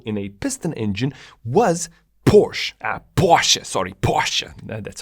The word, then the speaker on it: Porsche: The first to actually implement Nikasil in a piston engine was Porsche, that's how you say it.